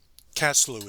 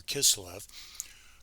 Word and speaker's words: Kislev: the date, the 25th of Caslu, as some people pronounce it, or Kislev, or the dedication itself was predicted in Daniel.